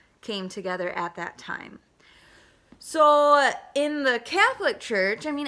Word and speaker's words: Samhain: as a holiday that looks like Samhain but it's pronounced so in and it means summer's